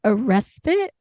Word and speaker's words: respite: Silence and solitude isn't constant, but it's I can never pronounce this word. A respite.